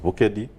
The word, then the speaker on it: Bukedi: diocese if you speak about the Diocese of bukedi some other people call it bokeh dialysis so the right pronunciation is the Diocese of vocadi so we have 10 diocese together where the